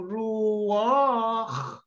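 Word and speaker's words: רוּחַ: Because ruach. Mahaba yun eh. It is a long pronunciation. No? Ruach. This is a chet.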